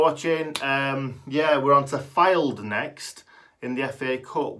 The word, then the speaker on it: Fylde: That is how you say it. It's not Fylde, it's Fylde, isn't it?